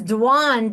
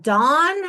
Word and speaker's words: Dwan: Well, mine is Dwan, Dwan, and people Yeah, always go Dawn, and I was yeah, like, yeah.